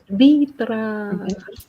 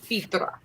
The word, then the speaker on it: Vidra: Vitra. I don't even know if that's how you pronounce your name. That's just the way Vitra. Yeah, Vitra. Vidra. That's how we pronounce it.